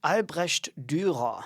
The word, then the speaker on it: Albrecht Dürer: Did I say that correctly, by the way, the name? Albrecht Dürer. Yeah, that is the correct way to say it.